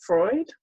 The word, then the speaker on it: Freud: Sigmund Freud, did I pronounce that right, Kath? Yes, Freud.